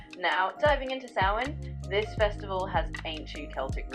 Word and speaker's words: Samhain: The pronunciation is typically Samhain. Samhain. Exactly, you got it. It's Samhain, like you just said. It's one of those words that looks one way but sounds another.